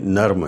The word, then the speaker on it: نرم: بات آئی ہے کہ بعض لوگ اسے نرم بھی بولتے ہیں، تو اس کی درست تلفظ، اس کی درست ادائیگی نوٹ فرما لیجئے، یہ نرم ہے، نرم نہیں ہے۔ تو اس کے بعد